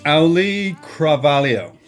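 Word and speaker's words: Auliʻi Cravalho: It's Ali Carvalho.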